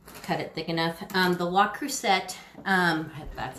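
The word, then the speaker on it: Le Creuset: I just butchered this piece. I didn't cut it thick enough. The La Crusette, that's how you say it, La Crusette.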